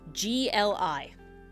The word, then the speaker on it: gli: And in Italian, you have the noise GLI, right? GLI. That grouping of words that letters makes a Y noise.